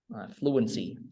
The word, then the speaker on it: fluency: Fluency. Fluent là nhấn một nè, fluency.